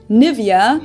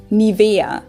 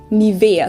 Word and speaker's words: Nivea: native speakers usually say nivea livia in german we say nivea nivea so the emphasis is on the e nivea this is a